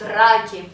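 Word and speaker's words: раки: For example, in my city, Rostov-on-Don, there is a food called draki. I'm saying it with an English pronounce now. It's called draki, that's how we say it.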